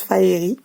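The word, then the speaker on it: Faerie: Parce que ça se prononce Faeri.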